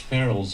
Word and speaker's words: ferrules: okay he says yes barrels is pronounced like funerals funerals what mark holson says